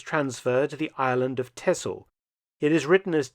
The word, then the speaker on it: Texel: Then on the 6th of February 1945, the battalion was transferred to the island of Tessle. It is written as T X L but is pronounced Tessle in Dutch.